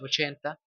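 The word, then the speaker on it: eighty: Luego luego tenemos el que es 80. Aquí la g y la h son mudas y la t se convierte en una R suave.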